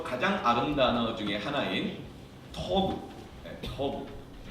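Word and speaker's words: טוב: 그런데 이 테트라는 단어가 히브리에서 가장 아름다운 단어 중에 하나인 토브, 저걸 토브라고 읽어요.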